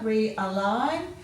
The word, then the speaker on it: realign: You've got a silent G in here, realign.